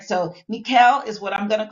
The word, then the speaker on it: Michal: So, some people call it Michael, but I looked up the Hebrew pronunciation and it's Mikuel.